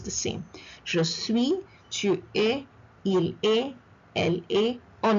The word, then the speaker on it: es: Look at the pronunciation of es. I do not say s. I say e. Tu es. est is not est, but e. The same sound.